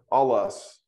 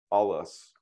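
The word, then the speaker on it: ἄλλος: so we got so all us so I'm going to emphasize this because this is the smooth breathing mark this is the accent and so we emphasize the first syllable all us now if you put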